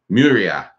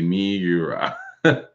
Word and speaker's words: Miura: Muria. Miura. Yeah, if I had to pronounce it properly, it would be Miura. Because MI is me.